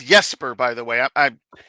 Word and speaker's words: Jesper: It it's Yesper by the way. I'm I'm Swedish so you know the J is pronounced like a Y.